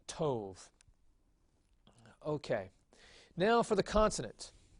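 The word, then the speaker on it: טוב: And so again, this would have to be a holem vav, and this would be pronounced tov.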